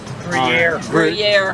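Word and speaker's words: Gruyère: Gruyere.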